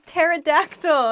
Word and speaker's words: pterodactyl: going to talk about words with weird silent letters i like the title of this one let's get started the first word is pterodactyl a pterodactyl is a